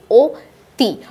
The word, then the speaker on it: অতি: যেমন অতি। এই যে অতি দেখতে মনে হচ্ছে কি স্বরে অ আছে কিন্তু আমি যখন উচ্চারণ করছি ও তি, অর্থাৎ ও চলে আসছে।